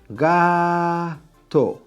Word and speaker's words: gato: is a cat right gah toe toe is the last syllable guy is the second to last right so this is